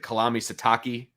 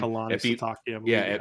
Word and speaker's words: Kalani Sitake: So I had was it Kalami Sitake? Is that how you say his name? Kalani Sitake.